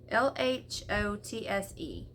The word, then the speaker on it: Lhotse: Lhotse.